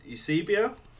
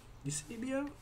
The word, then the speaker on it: Eusebio: It's Eusebio. Eusebio. Yeah. But I probably butchered his name.